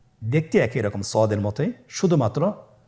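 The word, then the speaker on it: ضاد: দেখতে একই রকম সদের মতই শুধুমাত্র নুক্তার পার্থক্য সদের মধ্যে কোন নুক্তা নেই দদের মধ্যে নুক্তা রয়েছে দদ হারাফটি উচ্চারণ করার সময় অবশ্যই তিন আলিফ টেনে পড়তে হবে আপনারা আমার সাথে বলুন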